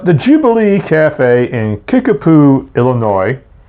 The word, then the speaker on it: Illinois: Jubilee Cafe in Kickapoo Illinois if you don't pronounce the S I finally got that